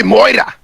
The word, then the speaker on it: Moira: Just say it like a Scotsman would. Oi, Moira! What you think you're talking to the babe for? But anyway, Kevin so. thought it was like Mara or something like that.